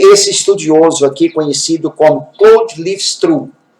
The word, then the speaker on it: Claude: estudioso aqui conhecido como Cloud livest é escrito Cloud mas a pronúncia é clou CL Liv TRS ele